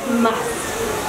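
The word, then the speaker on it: musth: male elephants go through something called must pronounce m-u-s-t and that is a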